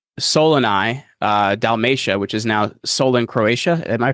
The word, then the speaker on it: Solin: He's born in Soluni, Dalmatia, which is now Solin, Croatia. Am I pronouncing that correctly? Solin?